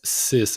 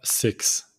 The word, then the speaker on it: six: sank sis and it it's sis and not six sis set with also